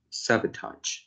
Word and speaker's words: sabotage: the ninth line but i'm checking for the pronunciation sabotage this one should be sabotage yeah and i i forgot your pronunciation uh i for now suffering yeah so the last maybe the last syllables should be patch sabotage histone modification is